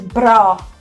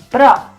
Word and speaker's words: bra: It is bra. Yeah. It's kind of like the Americans say bruh. Or bro. Yeah. It's bra.